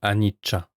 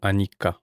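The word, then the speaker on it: anicca: Pour ceux qui ont déjà un peu de bagage, l'impermanence qu'on appelle anicha ou anika en fonction de la prononciation est l'un des trois piliers de la réalité, les trois lac chana.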